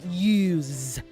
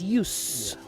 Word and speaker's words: use: you should also note there's a difference between how you how you pronounce the word USU e use when you use it as a verb it is use with the Z but